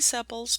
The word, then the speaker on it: sepals: and it's pronounced sepals looks like it would be sepals but no its sepals you want to draw